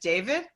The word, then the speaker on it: David: am mispronouncing your name is it true that you never got called dahveed everyone calls you just David right baby even in Israel in Israel my mother called me David when I was born